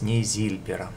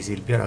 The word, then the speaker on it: нейзильбер: книгу монета отчеканена из нейзильбера все время говорю не silver не зильбера коза правильно говорить нейзильбер и так параметры монета